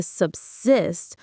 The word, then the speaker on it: subsist: The stress is on the second syllable. Cyst. Say it with me. Subsc. It's like sub and then cyst as in assist.